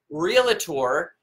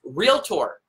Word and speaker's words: Realtor: on this it is not real a tour and it is not potato potato tomato tomahto it is real tour two syllables you don't get to